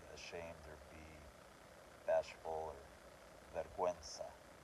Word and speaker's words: vergüenza: So vergüenza, which means shame, to be ashamed or be bashful, or vergüenza.